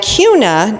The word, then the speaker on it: Kuna: And Kuna, not Kuna, so if you start calling it Kuna, they're gonna know you're not from here.